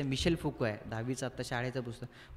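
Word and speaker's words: Michel Foucault: वर त्यांनी टाकलं त्या त्यांनी त्याला मायकेल फुको असं म्हटलं त्याच्यामध्ये ते त्याचं उच्चारण जे मिशेल फुको आहे दहावीचा आता शाळेचं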